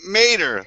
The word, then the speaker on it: Mater: Say, I'm Mater, like tomato without the I'm Mater, man.